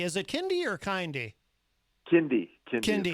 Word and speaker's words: Kindy: Kindy is how it's pronounced.